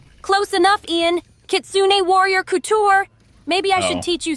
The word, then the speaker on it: couture: Kitsune Warrior Cooer. Cute, fierce, and totally unstoppable. Would you wear any of my designs, big guy? Did you say cooer? Close enough, Ian. Kitsune warrior couture.